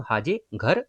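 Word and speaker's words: Mhaje Ghar: गोवा में देखोगे बेसिकली तो जाहे घर योजना, ये एम साइलेंट हो जाएगा, तो हाजे घर योजना जो है बेसिकली स्कीम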